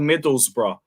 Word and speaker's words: Middlesbrough: Mid-table fucking Middlesbrough.